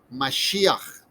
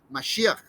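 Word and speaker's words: מָשִׁיחַ: yold and then finally this girl sound that sounds like mashiach okay if a king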